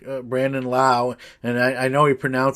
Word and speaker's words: Lowe: Things can change, but imagine if someone like Brandon Lau, and I know it's spelled Lowe like Rob Lowe, but I think he pronounces it Lau.